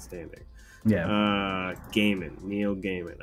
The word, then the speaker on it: Gaiman: yeah uh gaming neil gaiman i will do my best to never say guy man ever again unless pronouncing somebody else's name